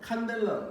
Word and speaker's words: 칸델라: 칸델라라고 있습니다. CD가 아니에요. 칸델라라고 읽어요.